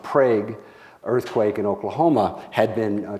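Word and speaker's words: Prague: a magnitude 5.7 earthquake the locally pronounced prag earthquake in Oklahoma had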